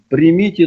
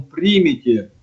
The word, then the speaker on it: примите: Вот куда правильно ударение? Примите или примите, то есть потом в день Пятидесятницы. Как правильно понимать? Игнатий. А ты меня спрашиваешь? Ты определенно говори, к кому обращаешься-то. Ну, именно да. Повелительным наклонением примите, сейчас примите.